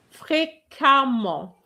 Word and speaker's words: fréquemment: We have f e m m e. We don't say femme, we say femme, like an a. It's the same here, fréquemment.